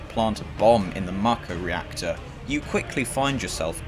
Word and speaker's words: Mako: For context, Mako is the world's blood, and yes, it's pronounced Mako, not Mako or Mako. Get it right.